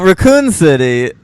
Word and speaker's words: Raccoon City: did you start uh pronouncing words with the second syllable emphasized well Raccoon City I got from Resident